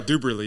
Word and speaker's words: Douberly: I mean, if you spell the word double, D-O-U-B-L-E, so you would assume Douberly would be the same.